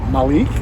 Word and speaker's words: Malik: name is very simple one name rhymes with the week and that's Malik and my last name